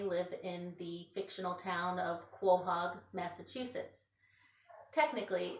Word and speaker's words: Quahog: and his family within the fictional town of Quahog Massachusetts technically it's pronounced Quahog and a Quahog is a large clam many